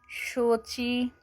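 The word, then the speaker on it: 小米: इसको हम चाइनीस में कैसे प्रोनाउंस करेंगे। Xiaomi शोची Xiaomi शोची।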